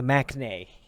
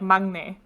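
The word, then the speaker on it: 막내: he's the Maknae, Yeah. I guess, right? I don't know. Yeah, I think it's pronounced more like Magne. Maknae.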